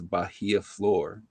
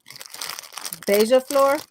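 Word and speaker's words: Beija-Flor: Okay, so that fragrance I made that you and Kelly referred to as Bahia Flor. Mm-hmm. Okay, that's not how you pronounce that. I know. Okay, it's pronounced Beija. Beija Flor.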